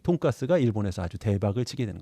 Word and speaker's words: 돈가스: 그래서 돈 커틀릿이었는데 돈 커틀릿을 일본 사람이 발음을 어떻게 읽겠습니까? 네, 돈가스리스 뭐 이렇게 하다가 리스는 빼고 돈가스 이렇게 된 겁니다.